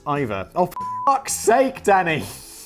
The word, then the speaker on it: Eva: Still, she was stuck with the first name Eva, though, which Simon has probably been pronouncing Eva, but is actually pronounced Iva.